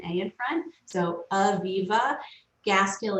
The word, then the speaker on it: Gaskill: Gaskill is GAS as in Sam, KILL, like the words gas and kill together.